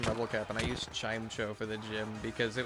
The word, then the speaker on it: Chimecho: Hey, I have zero hatred for people who pronounce it the other way, because I know that the other way is like the generally accepted way. I say Chimecho because it's funny.